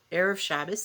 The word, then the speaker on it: Erev Shabbos: But it is for us, what we say in Hebrew, Erev Shabbos. That's a Yiddish pronunciation on the Hebrew.